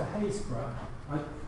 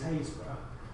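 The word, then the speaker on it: Happisburgh: Now, to go back to Haysborough, I don't know much about pronunciation in Norfolk, but we apparently call this Haysborough, but there's an awful lot of unnecessary letters in there.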